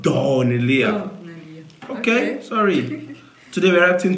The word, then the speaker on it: Daneliya: So someone carried AK-47, some swords, a lot of equipment, and attacked us in the comment section that it's not Daneliya. It's pronounced Daneliya.